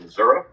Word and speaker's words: Missouri: And if you pronounce it Missouri, you'll get in trouble. It's pronounced Missouri.